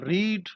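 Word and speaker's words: read: ये third form है रीड रेड रेड यहां पे आप स्पेलिंग एक जैसे हैं बट इनका प्रोनंसिएशन जो है वो डिफरेंट है और डिग्रीज भी डिफरेंट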